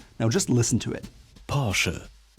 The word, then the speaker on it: Porsche: Porsche. Porsche. Now did you hear it? The traditional German R comes from the back of the throat, Porsche. Porsche.